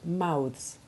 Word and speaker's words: mouths: The sound becomes hard in truths, youths and mouths.